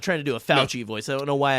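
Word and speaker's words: Fauci: offense william but like yeah yeah um it's pronounced shut up nick it's not it's fouchy it's not fosse um but anyway um walked away for one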